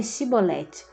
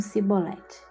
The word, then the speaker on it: chibolete: Para identificar quem era daquela tribo, pediam que a pessoa dissesse a palavra cibolete. É chibolete. Mas os efraimitas não conseguiam pronunciar corretamente e diziam cibolete.